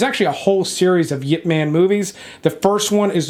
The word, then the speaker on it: Ip Man: Man is and yes it is pronounced Yip Man not it man or Ip Man but it is a